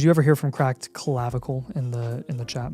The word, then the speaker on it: clavicle: Man, you are saying the word collavicle and it is clavicle.